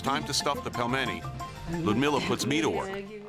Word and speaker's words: pelmeni: This dish again, how do you pronounce it? Pelmeni. Pelmeni.